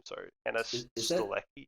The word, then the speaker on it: Stuelke: I don't know how to pronounce her last name. Sorry, Hannah Is that Stulecki. Stokey? Stuelke, yeah, Hannah Stuelke.